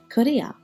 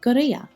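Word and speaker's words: կրիա: In particular, we looked at this letter, which is pronounced G in Eastern Armenian and K in Western Armenian. We saw the application of that in the word korea or goria, meaning turtle, and also kat or gat, meaning milk.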